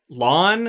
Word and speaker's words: Lan: And man, speaking of just pronunciations real quick, Lawn is apparently how they pronounce it in the audiobook.